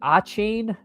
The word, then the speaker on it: Etienne: Travis, and I don't think he said H. He said like A-chain. Like, no, I'm just gonna keep calling him Travis Etienne.